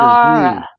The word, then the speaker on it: Zara: So, it's pronounced like a Zara.